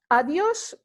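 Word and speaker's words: adiós: start that's buenas noches adduce is like goodbye you can say it any time of the day when you are you know taking your leaf of somebody and you know is again you see the accent in the oh so that indicates that there's you know an emphasis placed on the oh sure you say adios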